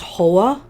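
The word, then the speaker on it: Huath: The month itself is pronounced Hoa, so this is Hawthorne.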